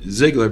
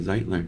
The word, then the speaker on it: Zeitler: of people don't know that I think it's Ziggler because of the Ziggy part but it's actually zitler yeah fantastic I've known you so long as